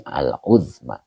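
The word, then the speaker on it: العظمى: Nah, ini bacanya aluzma bentuk ee bentuk isim tafdil muannas ya dari a'zomu. Kalau mudzakarnya itu a'zomu af'alu, tapi kalau muannasnya fu jadi uzma begitu ya.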